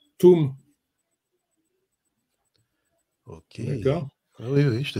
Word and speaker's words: Atoum: Normalement, ça ne se prononce pas Atoum, ça se prononce Tam, Toum.